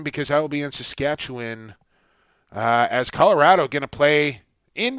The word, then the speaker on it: Saskatchewan: an easy and it you don't pronounce it the way it looks and it it's tough